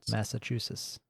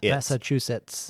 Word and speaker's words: Massachusetts: Massachusetts. Am I saying it wrong? You got to put a couple T's. You got to put T's at the end. Massachusetts. It's Massachusetts. Yes.